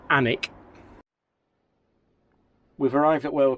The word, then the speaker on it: Alnwick: And for those of you unsure about the pronunciation, it is actually Alnwick. You don't pronounce the L. And you don't really pronounce the W. It's Alnwick.